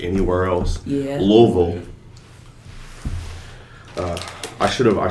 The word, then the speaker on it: Louisville: how you say it it's a Louisville Slugger it's not true or people say loville it's like you missed a whole bunch of other R consonant but and that's that's